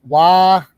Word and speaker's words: Waquoit: And Waquoit is pronounced Waquoit. Waquoit. Like the game of quoits. Yes, like the game of quoits. Accent on the first syllable.